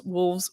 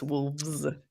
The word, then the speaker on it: wolves: you're also from colorado i pronounce wolves with the it sounds like an f a wolf and then i get made fun of every time but it's wolves with a v well no but if